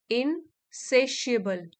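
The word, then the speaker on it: insatiable: adjective है adjective है यहां पर टी आया है लेकिन इसको प्रोनाउंस कैसे कर रहे हैं इन सेशिएबल सेशिएबल असंतुष्ट नेक्स्ट वर्ड है ट्रांसडिफरेंटशिएशन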